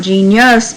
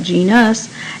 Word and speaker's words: genus: we are family family g was genus not genius but genus and s was species